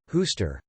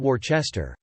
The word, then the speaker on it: Worcester: Also, why is Worcester pronounced Hooster, not Worcester?